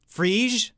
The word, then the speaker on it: Phryge: Phryge? Oh, it's one syllable.